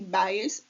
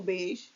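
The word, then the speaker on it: Bayes: é dada pelo teorema de Bias ou beas depende da pronúncia mas vamos chamar de Bias mesmo para ficar mais fácil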